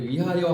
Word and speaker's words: 위하여: 유일하게 표기법이라서 이건 윙하여 안 합니다. 발음할 때 위하여 하는 거야.